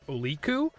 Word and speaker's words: Oliku: all my stuff is oliku uh pronounced like otaku but with leap in the middle because elite otaku aliku